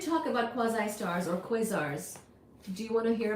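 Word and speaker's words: quasars: since somebody asked about quasi stars or quazars that's exactly how you say it so very good job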